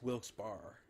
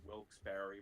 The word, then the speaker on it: Wilkes-Barre: It's Wilkes-Barre. Well, people actually around there, if I'm not mistaken, like in Wilkes-Barre, pronounce it Wilkes-Barre.